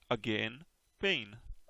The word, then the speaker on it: again: I see pain, but pain rhymes with rain here. Ah, again and pain. Okay. How do you say it, Elaine? Just say it. Again, pain.